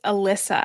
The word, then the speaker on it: Elysa: because I just want to make sure I'm pronouncing it correctly. Yeah, no problem. It's Alyssa actually.